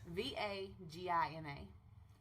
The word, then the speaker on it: Vagina: V-A-G-I-N-A. Pronounced Vagina.